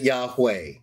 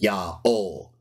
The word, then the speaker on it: Yaho: they didn't pronounce it Yahweh they didn't pronounce it yahuwah they pronounced it ya o just like the Jews